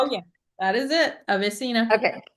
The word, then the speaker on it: AveSeena: Um, is is that am I pronouncing it correct? Oh yeah, that is it. Avesina. Okay. Avesina.